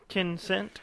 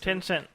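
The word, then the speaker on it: Tencent: tenant art into the ten cent I guess how you say it ten cent it's written right there yeah ten cent yeah which is a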